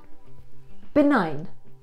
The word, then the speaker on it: benign: And today's word is benign. Benign. Now, to make pronunciation easy to remember, think of it as the letter B plus the number 9.